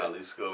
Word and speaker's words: Jalisco: It's a state in Mexico, Jalisco. Is it Jalisco or something like that? Jalisco and J is Jalisco.